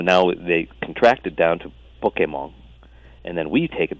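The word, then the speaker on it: Pokémon: or American, pocket monster, and in Japanese is pronounced pocket monster. So now they contracted down to Pokemon, and then we take it back and call it Pokemon.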